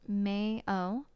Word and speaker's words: Mayo: that my EO pronunciation May oh much like the condiment Krogan as the mountain